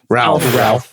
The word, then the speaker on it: Ralph: associate him only only Ralph isn't his name Ralph it's pronounced wraith really yeah I swear to God I don't